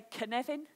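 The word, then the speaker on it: Cynefin: a Welsh word so can you all say the name Kevin to me like Kevin Costner's say Kevin put an urn in it's a can Evan you got it brilliant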